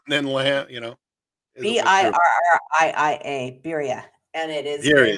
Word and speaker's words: birria: where I get some of my friends to pronounce it for me. Biera tacos. That sound right? What Tacos? taco? Birria Oh, tacos? birria.